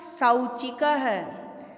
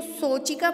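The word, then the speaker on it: सौचिकः: अब आप अच्छे से सुनिए, यदि स के ऊपर मात्रा किसकी दिख रही है हमें? ओ की मात्रा नहीं है, ये औ की मात्रा है। यदि मैं इसको सोचिका पढ़ूंगी तो भी वो अशुद्ध माना जाएगा। ठीक है, हमें स में औ की मात्रा, तो हमें सौ इसका उच्चारण करना पड़ेगा, तभी वो शुद्ध कहलाएगा।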